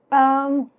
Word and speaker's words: Om: Om is the mantra which has 3 syllables: A, U, M, U, Ma, Akar, Ukar, Makar.